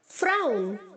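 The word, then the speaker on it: frown: फ्राउन, फ्राउंड, फ्राउंड। यहाँ पर जो W है बच्चों फ्राउन में, वो U की तरह प्रोनाउंस होगा।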